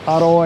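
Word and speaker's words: อร่อย: will is to say the word tasty aloy or the correct speaking version or central thai is haroy aroy you kind of roll your r a little bit very tasty very very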